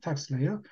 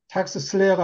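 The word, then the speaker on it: TaxSlayer: 텍스 레이어. 텍스 슬레이어가 아닙니다. 미국 애들한테 강요하면 또 그렇게 얘기합니다. 텍스 레이어입니다. S자가 묵음입니다.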